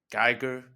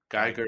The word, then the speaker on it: Giger: from cell zero at Gyer Giger Industries G Giger G Giger Gyer G Giger or Gyer I imagine either pronunciation is fine it's probably fine yeah yeah